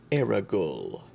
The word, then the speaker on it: Aragol: And then our last one from Slit, pronounced Aragol, as in seagull.